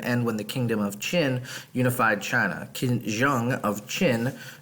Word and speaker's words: Qin: simple to continue our china unit we will be moving into the qin dynasty that qin word um is pronounced chin and we will be